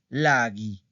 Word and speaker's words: laghi: Entonces, esas palabras hacen el plural con fuochi, fuochi y laghi. Fuochi y laghi. ¿Ok? Entonces, recuerden. Ahorita lo estoy estresando. No se pronuncia así, ¿ok?